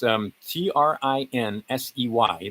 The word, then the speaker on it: Trinsey: And that's Trinsey. That's easy. Trinzi v. Pagliaro. I believe that's how you'd pronounce it, right?